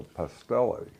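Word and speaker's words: pastelle: That's a pastelli. What? Pastelli. What's that? It's a Puerto Rican version of a tamale. It's spelled P-A-S-T-E.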